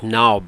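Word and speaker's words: Knaub: The first speaker was a young sister whose name was Diane Naub, pronounced Naub but spelled K-N-A-U-B.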